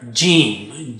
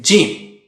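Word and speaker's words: جيم: How do you say Jeem? Use the middle of the tongue and touch it to the palate or roof of the mouth. Ja, ja, ja. Don't touch the edge.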